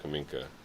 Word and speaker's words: Kamenka: We're way west of Kaminka. Kaminka's way east. So Kamenka's north of... I'm just pronouncing it wrong? No, it's Kaminka, and then you got Kaminsk.